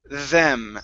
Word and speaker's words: them: Now here with the th, you're pronouncing a Spanish D, saying them. Instead of them, it's them. Make sure that your tongue is between your teeth.